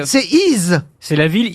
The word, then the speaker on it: Y: le village d'Y, on prononce I, le nom de la ville, mais ça s'écrit Y, une seule lettre dans la vallée de la Somme.